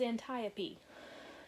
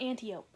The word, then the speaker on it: Antiope: and by the way her aunt's name is antiope not antiope okay usually I'm not that